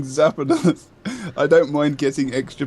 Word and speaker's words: Zapdos: Like Zapdos, like the Pokemon, or Zapados, or like, what are you trying to say? Zapdos. Zapdos? Like it's two syllables. Zap and then dos.